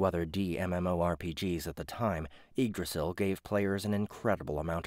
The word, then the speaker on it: Yggdrasil: Yggdrasil. It had been released 12 years earlier. You know what? I've said this word so many times, but I think I have just Yggdrasil. Yeah, that's the way it's pronounced.